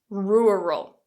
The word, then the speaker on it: rural: it quite tricky and that dark L at the end can also cause problems for some speakers of certain languages so let's just focus